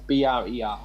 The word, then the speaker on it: Brer: yeah Brer Rabbit yeah BR er okay so it's Brer that rhymes with hare police about rabbits okay